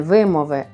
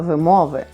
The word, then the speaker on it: вимови: орфоепії тобто правильної вимови так Саме так не вимови а вимови треба це вимовити але що це є